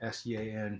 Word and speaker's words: Xiang: Yeah, my name is Xiang Gao. My name is spelled weird, but it pronounces almost like S-E-A-N, Sean.